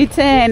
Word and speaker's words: Iten: So the name ITEN is a corruption of the word Hill 10. At okay. that time, majority of the locals were not learned. So pronouncing the word Hill 10 was a bit of a problem.